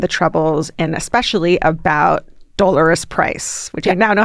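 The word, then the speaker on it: Dolours: the IRA and the troubles and especially about doar price which I now know how to say her name correctly because of that show how the Irish say it uh it's tough though dollarus yeah it's incredible great it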